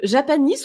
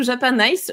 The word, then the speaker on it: Japanice: peux nous parler de Japanis ou Japanice ? Je crois qu'on peut prononcer les deux.